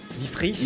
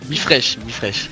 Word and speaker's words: BeFreesh: Avec moi sur X, donc c'est Bifrosh Crypto, donc je le prononce bien Bifresh. Ouais, Bifresh.